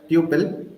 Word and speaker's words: tuple: the next one is tle right so some people pronounce it as Tuple so it's up to you guys I make it as tle so let us discuss